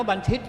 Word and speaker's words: บัณฑิต: เคย อ่าน ว่า บันทิต บัณฑิต เนี่ย อ่าน ว่า บันทิต ครับ าง บ้าน ผม อ่าน